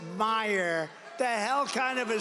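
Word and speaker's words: Meijer: A guy who spells his name M-E-I-J-E-R, but they pronounce it Meyer. The hell kind of a spelling is that? Meyer. Meisher.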